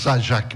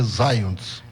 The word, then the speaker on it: Zajac: Sim, sou casado e muito bem casado com a dona Terezinha Varpechowski, da família Zayons, que hoje nós chamamos Zajac, mas a pronúncia correta é Zayons.